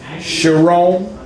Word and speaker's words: Charron: You said it right. But can you spell it right? You spell it wrong. I got it now, though. Because it doesn't even sound like two R's. You know what I mean? Yeah, I know. Because it would be Charron.